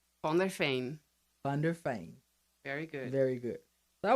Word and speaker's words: van der Veen: wanted to say it right on their fame thunder fame very good very good i want you to